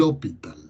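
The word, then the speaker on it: L'Hôpital: se escribe así l' un sombrerito en el lado hospital se pronuncia así el hospital que como si fuera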